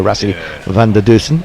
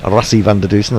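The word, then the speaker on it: Rassie van der Dussen: if there is no russia van der dersen rassi van de dusen as i'm told it's uh to be pronounced uh let's do some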